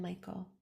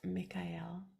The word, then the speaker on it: Michael: Masters and helpful Elementals beloved archangels Raphael and Michael which is actually pronounced Mikhail we're not used to saying it that way